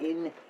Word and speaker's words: Yin: That's Yin and Yang is how we pronounce it in Pinyin.